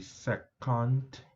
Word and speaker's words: secant: This is the shortened pronunciation. It's actually secant.